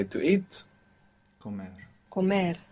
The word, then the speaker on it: comer: Comer. Accent on the end.